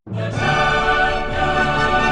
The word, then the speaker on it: Doku: Doku? Yeah, Doku, right? How do you how do you say his name? I'm from Texas, bro. you said it right. You said it right. Oh, yeah. Doku.